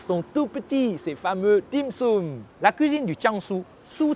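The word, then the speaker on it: 点心: Dim sum est la prononciation en cantonais du mot dianxin, dian, une goutte, xin, le cœur.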